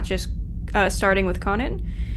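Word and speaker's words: Kwannon: Yeah, but it's Conan, but I'm pretty sure the the W is silent in the way you say it.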